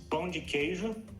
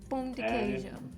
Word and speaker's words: Pão de Queijo: It's Pão de Queijo. Pão de Queijo.